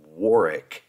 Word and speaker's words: Warwick: this is another one no W is pronounced so it's noric right or noric and war